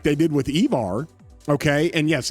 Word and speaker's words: Evar: Or if they really want to do this, like they did with Evar, okay, and yes, it's pronounced Evar.